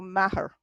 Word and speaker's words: Meagher: Okay, the EA in Irish kind of sounds like the American version of yeah. Ah. So the GH isn't sounded. So maher. Maher.